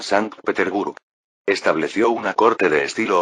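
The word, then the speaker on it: Sankt-Peterburg: Por ejemplo, la nueva ciudad que construyó San Petersburgo, se pronuncia siguiendo el alemán San Peterburg.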